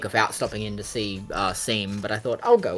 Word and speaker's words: Seam: And also, I did pronounce it as Shawm for so long before realizing, oh, like, stitching seams, yeah.